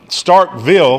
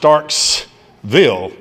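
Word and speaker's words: Starkville: important to us um Stark Vil Mississippi is often pronounced Starksville Mississippi David May is often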